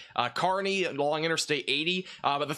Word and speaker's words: Kearney: Thank you for pronouncing Kearney correctly.